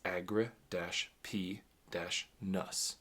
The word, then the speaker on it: Agrippinus: i n u s now I would have thought it would be agrippinus or agrippinus but he provides or they provide the uh breakdown of the pronunciation at the beginning of each chapter and it's Agra - p- nus anywh who let's get